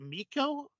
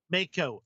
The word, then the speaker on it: Mako: And I have always like, is it Miko? Is that how you pronounce her name? Mako.